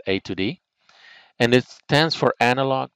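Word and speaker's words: A/D: A slash D, we normally pronounce that A to D.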